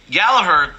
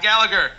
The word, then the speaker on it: Gallagher: didn't see coming and gallaher the the i'm trying to pronounce it the irish way yeah not gallagher yeah americans gallagher so gallaher um the problem he's